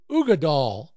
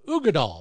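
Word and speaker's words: Uigeadail: Ardbeg Uggadal. Yeah, that's what it's called. It's spelled U-I-G-E-A-D-A-I-L. Uggadal.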